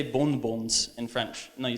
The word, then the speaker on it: bonbon: The N only serves, like you're never going to say bonbons in French. No, you say bonbon. Because the N doesn't get pronounced, it tells you that the vowel turns into a nasal vowel.